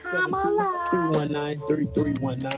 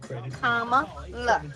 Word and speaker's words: Kamala: Kamala. In case you guys don't know how to pronounce her name, it's a comma and la. Comma, la.